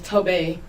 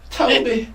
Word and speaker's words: Tobe: His name is Tobe. It's spelled Toby. Toby. Yeah, but it's pronounced Tobe. Toby.